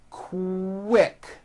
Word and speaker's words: quick: them so for example the word quick is pronounced with a K and a strong W sound Co WIC like that